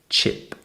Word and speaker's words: chip: e sound cheap next we have chip with a CH sound and a short I sound chip next we haveip with